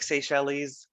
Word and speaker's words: Seychelles: It looks like Seychelles. It's pronounced Seychelles, kind of like that country in the South Pacific we talked about last week.